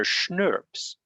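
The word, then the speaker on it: snRNP: a little bit but i pronounce it kind of like schnapps which is a peach liqueur very nice uh if you have legal age to drink it obviously um so schnurps right because we pretend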